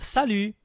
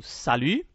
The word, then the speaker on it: salut: É importante a gente prestar atenção na pronúncia, né, do U. Então faço o bico. Né? Eu vou dizer o U, mas em vez de dizer o U, eu digo a letra I.